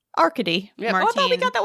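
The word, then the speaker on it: Arkady Martine: um our space President arcadey Martin it's actually pronounced arcadey Martin I thought we got that one right did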